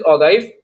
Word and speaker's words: ogive: Next is ऑगाइव. इसको ऑगीव भी कहते हैं, उसको अलग तरीके से भी आप प्रोनाउंस कर सकते हैं अलग.